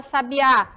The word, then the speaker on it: sabiá: sábia na primeira sílaba onde vem a sílaba tônica na palavra sabiá na última o som dela é